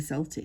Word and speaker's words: Celtic: couple of times done the Celtic not CTIC notot we pronounce it and so we're